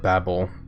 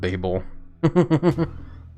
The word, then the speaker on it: Babel: I'm pretty sure it's supposed to be the Tower of Babel, not Babel.